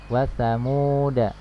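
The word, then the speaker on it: وثمودا: Di sini ada sifar ya, tanda sifar mustadir di atas huruf alif. Jadi alif ini dianggap tidak ada ya. Maka dibacanya pendek, wasamuda ya.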